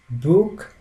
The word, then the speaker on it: Buch: The seha followed after vowels like a, o, u always take the sound k, like in sick. The word sick has the sound k, and this seha combination, whenever we see after the above mentioned vowels, takes the sound k.